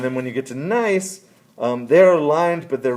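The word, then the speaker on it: gneiss: be a sample of nice now that is pronounced with the without the g it's spelled g-n-e-i-s-s uh the g is silent and so it's just like nice like uh yeah like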